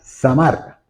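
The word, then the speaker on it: זמר: el podar en hebreo el podar en hebreo se pronuncia samar que es la raíz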